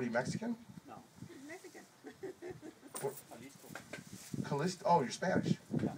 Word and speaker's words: Jalisco: Isn't there a Callisto, Spain? Jalisco. Jalisco.